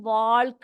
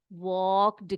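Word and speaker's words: walked: का तो कबीर वक उसको हम वाल्क नहीं बोलेंगे बेटा यहां पर एल जो होता है वो साइलेंट होता है इसीलिए हम उसको वाक्ड कहेंगे क्या कहेंगे वक राइट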